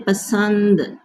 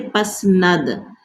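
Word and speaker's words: پسند: Like when you say pasand, pasand, you will not say pasnad, pasand.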